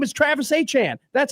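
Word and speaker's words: Etienne: ATN ATN, you ATN. Who are you talking about? To a press conference and say, "My name is Travis Achan."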